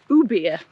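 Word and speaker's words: Ubirr: bit further up to ubia it's pronounced no beer there's actually it's quite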